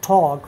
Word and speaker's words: talk: don't pronounce L or talk. We do not pronounce L in walk, in talk.